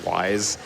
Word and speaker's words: Y's: run these games but his name is y apostrophe s and they pronounce it wise and it's just people